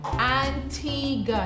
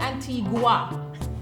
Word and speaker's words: Antigua: Pronunciation Antigua, not Antigua. Antigua and Barbuda, not Barbuda. Barbuda.